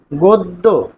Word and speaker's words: গদ্য: তার মানে স্বরে অ হবে ও।